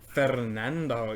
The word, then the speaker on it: Fernando: Fernando. Because you can roll your R's.